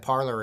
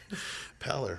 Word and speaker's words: pallor: Parlor? Like a parlor? Parlor? Yeah, isn't that how you say it? Pallor, right? Pallor. I thought you had an R.